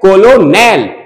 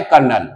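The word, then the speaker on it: colonel: ओ एन ई एल कोलोनल लिखा गया है कोलोनल अब बोला जाता है कर्नल ऐसे लटन अब बोलते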